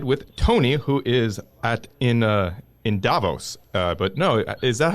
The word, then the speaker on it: Davos: I'm here in the studio with John Fagan in D.C., and we are connected with Tony, who is in Davos. But no, is that how we pronounce it?